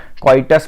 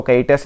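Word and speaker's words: coitus: Natural method होती है क्वाइटस interrupts, यहाँ पे स्पेलिंग मिस्टेक है आप देख लेना, क्वाइटस बोलते हैं उसको, कैइटस नहीं बोलते, क्वाइटस इंटरप्ट्स बोलते हैं, क्लियर।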